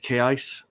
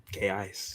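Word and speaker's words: Kaise: Oh, but that's the way it's pronounced on the audio book.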